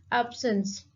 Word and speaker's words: absence: And if we see the stress, so we can say that the stress is on the very first syllable, a syllable, ape.